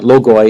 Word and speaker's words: logoi: Logi, that's a logos is one, right? And logi is more than one, or logoi if you use the classical pronunciation.